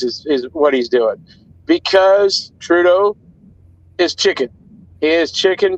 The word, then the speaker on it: Trudeau: How do you pronounce it? Trudeau.